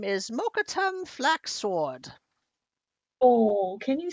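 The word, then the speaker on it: Mokkotum: me to tell you um my name is mokatum flaxsword oh can you spell that it's not important as the dmi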